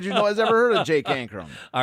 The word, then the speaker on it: Ankrom: player am I because I don't want to say his name wrong uh Jake anram that's how I'm saying it is there a better if there's a better pronunciation let us let us hear about it as usual we